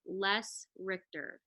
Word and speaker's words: Les Richter: I always do but it's les Richter no you didn't butcher it that's how you say it and this is a